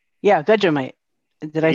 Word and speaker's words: Vegemite: Yeah, Vegemite.